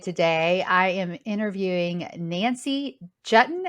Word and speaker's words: Juetten: I am interviewing Nancy jutton as in button that's how she told